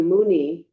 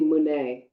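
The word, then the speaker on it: मुने: And it's actually, instead of Muni, it's really Mune, Mune, Maha Mune, Soha.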